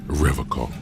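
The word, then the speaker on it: Revachol: He pronounces Revacol with a hard K, unlike... I like to pronounce it the hard way, the old way, the Vespertine way.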